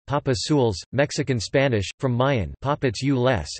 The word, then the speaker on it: Papadzules: Papadzules, Spanish pronunciation, Papazules, Mexican Spanish, from Mayan, Papadzules, is a traditional dish from the Yucatan Peninsula resembling enchiladas.